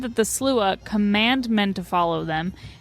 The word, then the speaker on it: Sluagh: the name slua nine times over and over pronounce slua for fear you might say it yourself perhaps